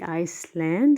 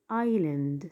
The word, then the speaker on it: island: a and d and the s is a silent letter so we don't say iceland we say island so we have three